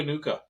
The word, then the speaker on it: Nacua: And then Puka Nacua. Dude, I love Puka. I know I said his last name wrong. But Nacua. Yeah, Nacua.